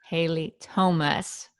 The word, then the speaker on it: Haile Thomas: i am so excited to be here with haley thomas did i pronounce that correctly yes thank you so much